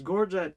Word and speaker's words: gorget: Yeah, and she couldn't pronounce that word either. I was watching the stream like, it's gorget, come on.